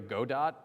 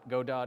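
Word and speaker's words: Godot: look up Unity or God do God do is go d o t it's technically gdau but I'm pronouncing the whole all all the letters just so it's easier to write oh were you about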